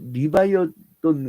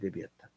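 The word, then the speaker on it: Leviathan: 근데 그 비록 저게 국가 경찰 같은게 리바이어돈 같은 그걸이 원어 발음 레비아탄이죠. 레비아탄 그니까 영어식으로 리바이어 그 레비아탄 같은 그러한 사악한 권력이지만 그게 또 없으면 기본적인 걸 보장받지 못해.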